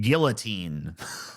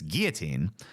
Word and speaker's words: guillotine: this woman she's a conservative so she probably pronounces it guillotine because that's how they like to say it but it's guillotine because the l's are um